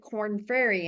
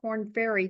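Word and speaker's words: Korn Ferry: don't know if you're listeners are familiar with corn fery and it's spelled k o r n f e r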